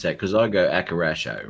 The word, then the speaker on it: Akirasho: Because I go Akarasho, right? How do you pronounce that? If it was Japanese, it'd be Akirasho. Akira Show. Kidisho. Right. Akirasho. It should sound like the waves of the ocean.